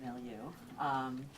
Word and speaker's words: Milieu: Milieu, which is how you say milieu, is an environment for